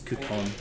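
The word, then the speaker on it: Cú Chulainn: Yes, for anyone who is wondering, yes, the pronunciation is Coupon.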